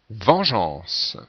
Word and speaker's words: vengeance: E A n ce donc on est obligé de mettre le E après le G pour conserver la prononciation je et non pas gu 18e mot girophare voici